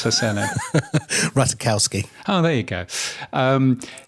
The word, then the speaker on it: Ratajkowski: bet you know her so how do I pronounce her silly ratakowski oh there you go um yes well anyway